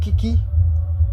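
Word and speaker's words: 危機: Um, and Kiki is essentially a two syllable word. The first key is danger and the second key is opportunity.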